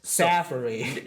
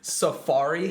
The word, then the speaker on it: Safari: yeah basically yeah um the third one is sappy no Safari yeah Safari that's really word just AB didn't make that uh it means like a forest yeah Forest type of forest yeah in Africa Safari Africa exactly yeah exactly